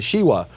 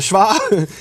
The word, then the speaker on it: shva: studying these things and he calls it the shiwa. But no, we call it the shva.